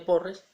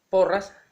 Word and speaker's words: Porras: cursiva se parecen entonces el apellido era porras y se escribe un cursiva y parece que fuera pero el apellido es porras martín de porras se